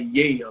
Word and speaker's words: Yale: And I'm not trying anybody's character, but people think I say Yale, like YEA.